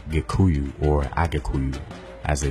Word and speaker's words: Gikuyu: and in Barry Kaku is actually the Swahili pronunciation of the more correct term Gikuyu or a cocoon as